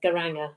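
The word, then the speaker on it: Geiranger: Yeah, so it's Helisit, but it's very close to Garanga. Garanga.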